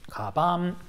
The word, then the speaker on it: 鞄: と例えば鞄カバンかばんといった場合どういうアクセントになっているかと言うと平板敷きのねこれちょっとアクセント